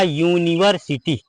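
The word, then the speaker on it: university: का पर होता है उसका रूल यह होता है जब किसी वर्ड की शुरुआत यू से हो जब किसी वर्ड की शुरुआत यू से हो और यू के तुरंत बाद एक कंसोनेंट आए और कंसोनेंट के तुरंत बाद वावेल आ जाए तब वहां पर यू को यू पढ़ा जाता है जैसे यहां पर लिखा यूनिवर्सिटी क्या लिखा है यूनिवर्सिटी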